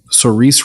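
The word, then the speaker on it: Saoirse: It has, do you pronounce her name Cerise Ronan?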